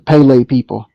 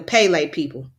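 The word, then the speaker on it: Kpelle: face okay and what tribe is that the Pele people the Pele people k-p-e-l-l-e okay you said how you spell it again k-p-e-l-l-e p k p e l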